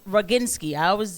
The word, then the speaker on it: Roginski: She's Roginski.